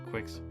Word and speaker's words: Quix: She says, I am Quix. I guess it's like, the game Kix. Q-I-X. Some people pronounce it Quix.